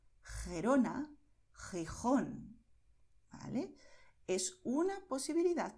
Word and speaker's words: Gerona: Por eso, en muchas zonas donde se habla el español, los nativos dirán Jalisco, Ojeda, Jipijapa, Tajo, Tajuña, Gerona, Gijón. ¿Ves? Es garganta, pero no estamos forzando.